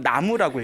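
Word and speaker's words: 南無: 나무가 원래 우리가 발음으로는 쓰기는 남무라고 쓰지만 읽기로는 나무라고 읽잖아요. 이 나무가 저 인도에서 나마스테라고 하죠.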